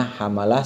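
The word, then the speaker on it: حملة: Tambihun, satu pengingat, qauluhu hamalatun wa safaratun wa hafadatun wa katabatun bi fathi ahrufiha atsalatah. Ini bacanya hamalah, safaroh, hafadah, katabah.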